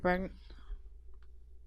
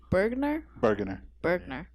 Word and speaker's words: Burgener: of close to Santa Cruz, we asked Mike Bergener. Oh no, how do you pronounce it? Burgener.